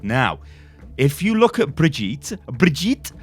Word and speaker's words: Brigitte: Now, if you look at Brigitte, I want to say Brigitte, right? Because I guess I'm English, right? But I think it's Brigitte. At least that's how it's pronounced.